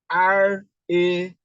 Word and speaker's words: rarity: RARITY. Okay, rarity, rarity, rarity. So we are stressing the first syllable, which is this.